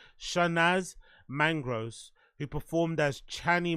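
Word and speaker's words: Chanaaz: it's c h a n a a z shanaz mangr who performed as channy Monroe says in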